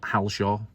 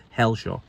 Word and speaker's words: Helshaw: And yes, it was Hell, not Halshaw. It's a misspelling and a mispronunciation. It's Helshaw.